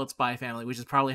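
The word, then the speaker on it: Spy × Family: you also call it spy family which is probably how you're supposed to pronounce it but i still i pronounce the x personally the same reason i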